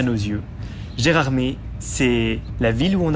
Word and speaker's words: Gérardmer: vient le nom de gérarmé très bonne question mon Flo mon cher Jami je préfère Flo pourquoi prononce-t-on Gérard m non pas Gérard mè et bien il y